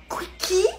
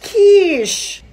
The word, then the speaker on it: quiche: 엄마, it's pronounced quiche!